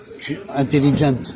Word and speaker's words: intelligent: Intelligent. Oui. Ils disent le T, le E en prononciation. Ouais, ouais. Et en français, on dit intelligent. Ouais. on ne prononce pas le T et le E.